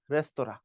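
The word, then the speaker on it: restaurant: কিন্তু পরীক্ষায় আসে বানানটা এটাকে ফরাসিরা বলে হচ্ছে রেস্তরা আরই এস টি এ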